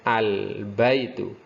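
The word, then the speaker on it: البيت: Baik, yang pertama al-baitu, ba tergolong dalam huruf komariah, jadi alif lamnya harus terbaca al-baitu.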